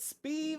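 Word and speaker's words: Sbeve: Put Speeve on the name tag. That's not spelled like that. It's spelled S-B-E-V-E. Steve with a B.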